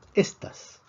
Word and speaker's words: estas: La palabra estas, por otra parte, lleva la fuerza en la primera sílaba o en la penúltima sílaba, termina en S y eso es lo que predecimos. Predecimos que la fuerza tiene que estar en la penúltima sílaba y sí lo está.